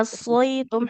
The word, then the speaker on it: عصيتم: Nah, wa asaitum huruf sodnya harus tebal. Huruf yang diucapkan dengan posisi pangkal lidahnya yang naik.